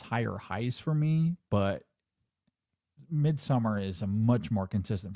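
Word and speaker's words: Midsommar: hereditary yeah or Midsummer I I always say midamar but I guess it really is pronounced Midsummer um so mid yeah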